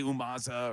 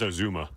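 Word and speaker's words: Uzomah: Now, whether or not they need it, they did bring in C.J. Umaza, or I always pronounce his name wrong. How do you pronounce it, Tom? I think it's Azuma.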